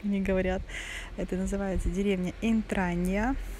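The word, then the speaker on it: Intragna: Тичино, как мне говорят, это называется деревня Интранья, пишется Интрагна, но читается Интранья, да?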